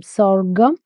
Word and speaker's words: sorghum: jovar or otherwise s-o-r-g-h-u-m sorghum sorry this uh no different ways different people will pronouncing in different way I just say s o r g u m sorghum or jovar if